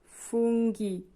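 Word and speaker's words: funghi: পৃষ্ঠা পাজিনা পৃষ্ঠা তারপরে দেখুন ফুঙ্গি জি এইচ ই জি এর পরে এইচ ই আছে উচ্চারণ হবে গ এর মত ফুঙ্গি ফুঙ্গি ফুঙ্গি মানে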